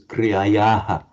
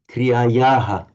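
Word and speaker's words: क्रियायाः: So if this word is pronounced on its own, kriyayaha, with an ordinary h sound.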